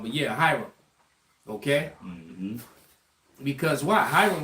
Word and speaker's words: Hiram: I said his name wrong, but yeah, Hiram.